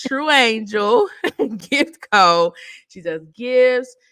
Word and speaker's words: Truanjl: in um the description true Angel that's how you say it so when you see it you going to be like how you say this it's true Angel gift Cod she does